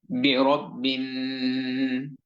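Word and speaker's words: بِرَبٍّ: برب برب برب برب برب برب برب এবং এই শব্দটির সবার শেষে বা জের বি এবং এই বি যুক্ত হবে নুনের সাথে। এত কমেন্ট করেন কেন আপনারা?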